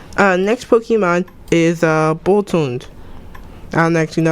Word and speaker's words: Boltund: Boltund. Yes. Well, it depends. I don't know the origin of the name. Yes. Bolt. Hound. No, it's like Hound. Dachshund. It's Hound. It's a Hound.